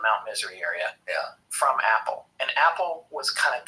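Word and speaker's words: Apol: cold who called himself Apple a p o l pronounced apple apple was constantly messing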